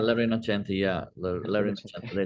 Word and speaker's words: La Rinascente: I may not be pronouncing that quite right, if I'm Yeah, not. La Rinascente, yeah, La Rinascente.